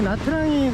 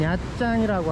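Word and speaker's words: Nha Trang: 방송이 되려는지 모르겠어요 여기 나트랑이 그니까이 베트남 사람들은 나트랑이 하지 않고 짱이라 그래요 나트랑은 이게 로마자로 표기하다 보니까 이제 잘못 발음하고 잘못 발음한 것이고 영어식으로 부르는 이름이고 베트남 사람들은 야짱이라고 한대요 여기는 원래 전통적인 베트남이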